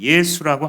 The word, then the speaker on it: 예수: 구원자 구원하시는 하나님이라는 뜻인데 그거를 헬라식 발음하면 예수 하고 흐 하는 사운드가 탈락하고 부드럽게의 발음이 되면서 예수라고 바뀌게 되죠 즉 이름을 짓는데 정